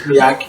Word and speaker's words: Miaci: You're one of the only people that pronounce it correctly, but yeah. It's Miacci.